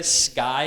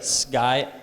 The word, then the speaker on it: sky: Just try to pronounce it as a B. Everyone try to say sky and skin. No k, sky. Just say SG, sky, skin.